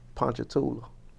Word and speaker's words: Ponchatoula: I feel Now, how do you pronounce the name of that town again? Ponchatoula.